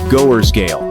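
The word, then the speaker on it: Gothersgade: For example, the street name Gathers Gate is pronounced something like goers's gale.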